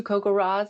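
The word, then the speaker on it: CoCoRaHS: those of you who may be new to Cocoa Ras that's how you pronounce Co r a HS it's an acronym it stands for Community collaborative rain hail and snow Network um so kokar Ras is just kind of an easier way to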